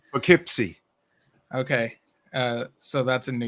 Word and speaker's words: Poughkeepsie: Also seen ABWH in, how do you pronounce that city? Poughkeepsie. Okay. Poughkeepsie.